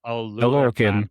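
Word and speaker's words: Oluokun: Is it Olulukan? Is that right? Yep. Olulukan. Okay.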